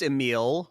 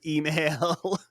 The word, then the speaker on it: Emil: at both because yeah this czech dude's name is emil but he keeps calling him email to any younger listeners